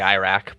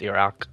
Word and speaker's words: Iraq: We say Iraq, but it's Iraq, you know?